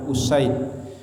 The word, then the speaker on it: Usaid: Oke, hadis berikutnya, wa an Abi Usaid, ya, dari Abi Usaid bidomil hamzah wa fathisin, ya, dengan didomahkan hamzah dan dipatah sin, makanya dibacanya Usaid. Ada seorang sanad hadis namanya